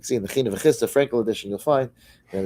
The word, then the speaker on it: Yissachar: a fascinating thing, how the first time we read it in the Torah, there's a minhag to say Yissaschar. Yissaschar. And then from then on we say Yissachar.